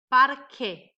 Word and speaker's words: parque: E aqui eu vou pronunciar o E como I.